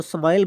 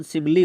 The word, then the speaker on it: simile: Students, जो ये highlighted word है, बोल्ड वर्ड है, इसको स्माइल बोल रहे हैं, सिमिली बोल रहे हैं। इसका प्रोनाउंसिएशन सिमिली होगा।